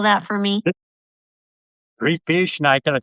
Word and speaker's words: gribiche: So, uh and then the real special treat today is gribiche sauce.